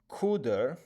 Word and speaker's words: CDR: CAR stands for contents of address part of register and CDR pronounced cuder stands for contents of decrement part of register.